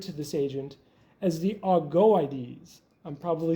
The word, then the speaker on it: Augoeides: Iamblichus referred to this agent as the Augoeides. I'm probably saying that wrong. Enrico, how do you got it? I pronounce it Augoeides. Augoeides.